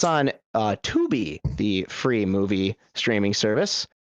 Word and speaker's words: Tubi: free movie streaming service, which I desperately want to call Tubby. Every single time I see it pop up on my menu options, by the way it is spelled. The Teletubby connection is misleading.